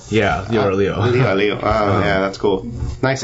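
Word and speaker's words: 六: Liu. Yeah, Leo.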